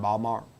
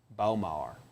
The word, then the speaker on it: Baltimore: Beat B-Mar. Balmar. Let him Balmar. That's how people from Baltimore pronounce Balmar. Bomar.